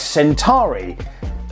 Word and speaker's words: Centauri: Yes, Centauri. I'm actually getting the pronunciation right this time.